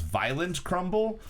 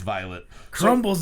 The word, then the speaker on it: Violet Crumble: crumble the violet the girl in the store pronounced it is violent crumble whoa oh it's violet crumbles and violence it's described as shattering candy coated